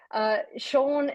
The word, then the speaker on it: Sjeanne: Sjeanne fantastic.